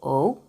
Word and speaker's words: ho: H, you don't pronounce it. But let me just tell you. Okay, io ho, tu hai, again, H is silent.